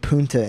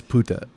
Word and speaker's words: puta: I'm white, and I know it's puta. What? It's puta. Get the fuck out of here. Not punta? No.